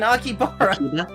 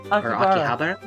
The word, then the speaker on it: Akihabara: That's a show in Akibara. Akihabara.